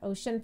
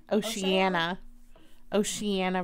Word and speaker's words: Oceana: Naval Base in Oshan, Virginia. Oceana, Virginia.